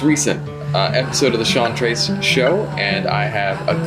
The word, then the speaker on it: Trezs: Scene, and so I understand having your name butchered, man. I can imagine. Yeah, so Trezz, it is.